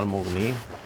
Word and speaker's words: Al-Mughni: Bacanya Al-Mughni.